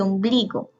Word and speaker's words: ombligo: Consume lleva el acento en la sílaba su, igual que ombligo. Ombligo lleva el acento en la penúltima sílaba, que es bli.